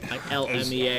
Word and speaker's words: ILMEA: ILMEA.